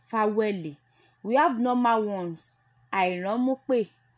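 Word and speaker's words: fáwẹ̀lì: Vowels is being pronounced as Faweli.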